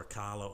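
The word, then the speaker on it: Acala: So we saw Akala or Akala, I'm not sure how it's said, I've heard it's Akala.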